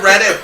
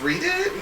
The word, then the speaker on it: Reddit: I feel like it should be pronounced read it. Yeah. But it's Reddit. Everybody says Reddit.